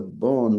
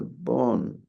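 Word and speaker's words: Bön: religion b o n and I'm pronouncing it with a Wisconsin accent I think it's kind of a combination of a p and a b pun something like that with an umlout over the O so you might be able to do a better job of pronouncing this than I am anyway here the bone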